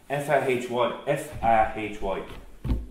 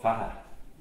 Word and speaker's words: Fahy: F-A-H-Y, we pronounce Fahy, but I've heard it called Faha, with the Y being dropped.